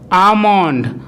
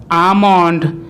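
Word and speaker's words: almond: এর মাঝখানে থাকে অথবা কোনো ওয়ার্ডে এ এল এম একসাথে থাকলে তখন কিন্তু ওই এল লেটারটির উচ্চারণ সাইলেন্ট হয়। যেমন কাম, কাম, পাম, পাম, সাম, সাম, স্যামন, স্যামন, আমন্ড, আমন্ড ইত্যাদি।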